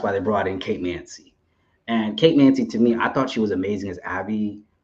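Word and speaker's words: Mansi: How do you pronounce her last name? Because I'm bad with names. Mancy, Kate Mancy.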